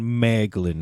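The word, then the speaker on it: Maeglin: His name kind of rhymes with gag. Gag gaglin. Gaglin. That's of course. Okay, so we're talking about Maglin here.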